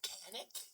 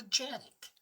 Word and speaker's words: Canik: So, let's drop off a little bit and uh we're going to discuss the Canic or as it's actually apparently pronounced, the Janick.